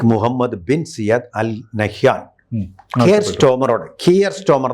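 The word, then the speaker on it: Keir Starmer: ബിൻ സിയദ് അൽ നഹാൻകോമോടെ കിയർ സ്റ്റോമർ എന്നാണ് ശരിയായ ഉച്ചാരണം ആ കിയർ സ്റ്റോമറോട് പറഞ്ഞു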